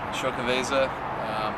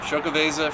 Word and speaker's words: Xocoveza: of show cabeza and that's actually how you pronounce it sho Keveza I know a lot of people will have a little trouble that I've heard in many ways but I know for this one so show cabeza for you guys 2019